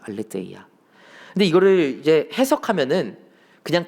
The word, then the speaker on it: 알레테이아: 이 진리는 알레테이아라고 읽습니다. 알레테이아.